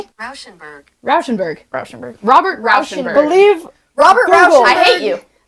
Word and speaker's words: Rauschenberg: This is how you 'Cause he pronounce his should name. be. Rauschenberg.